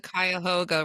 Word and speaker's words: Cuyahoga: It's the Cuyahoga River.